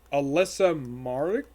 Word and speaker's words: Alyssa Marek: his name is ree he is voiced by alyssa marek that's how you pronounce her name i it's okay i don't